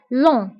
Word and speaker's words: long: ضيق étroite étroite large étroite طويل long long جي ما كنتقواش في آخر الكلمة كنقولو long وقصير court court جميل